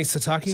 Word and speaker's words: Sitake: Keani Satakei. Sitake. I think Satake does a good job.